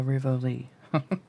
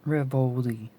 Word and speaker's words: Rivoli: over had a had a theater named the rivoli not revoli by rivally so that's the way i am gonna pronounce it okay uh i think it says